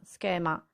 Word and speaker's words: schema: can also notice that the word schema is pretty much identical to the word scheme where there is also an s c h e scheme schema so this might help you remember to pronounce a sk sound and always remember that